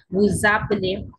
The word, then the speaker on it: vous appelez: Now this one is vous appelez, z sound come, vous appelez.